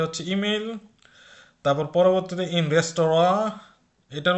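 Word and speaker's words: Restaurant: তারপর পরবর্তীতে ইন রেস্তোরাঁ, এটার উচ্চারণ কিন্তু রেস্তোরাঁ হচ্ছে একটা ফ্রেঞ্চ শব্দ বা ফরাসি শব্দ।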